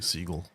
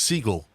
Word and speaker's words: Seagal: it sounded fancier so he changed the pronunciation to Seagal but it's Siegel shut up it's dirt